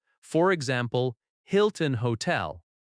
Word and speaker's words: Hilton: For example, Hilton Hotel. The stress is on Hil- -ton.